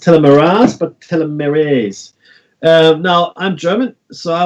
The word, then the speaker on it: telomerase: restart and Omega logos believes that it's not pronounced Almaraz but telomerase now I'm German so I will cross cameras